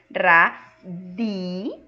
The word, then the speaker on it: radio: Se eu estou falando que espanhol não muda o som, então em espanhol a pronúncia dessa palavra aí é radio. Di. Lembrando essa pronúncia da D com I. Di. Que vocês não têm aqui, tá?